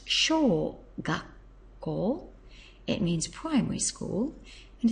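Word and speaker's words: 小学校: to school and you get small school it's pronounced sh gak it means primary school and it's quite easy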